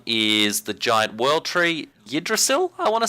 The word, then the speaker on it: Yggdrasil: And the other one is the giant world tree, Yggdrasil, I want to say it is.